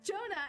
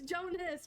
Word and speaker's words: Jonas: I called him Jonah so many times. His name's not Jonah. It's Jonas with an S.